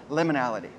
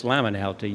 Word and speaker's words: liminality: Okay, and what is your definition for the word liminality? Well, actually, it's liminality. You've mispronounced it.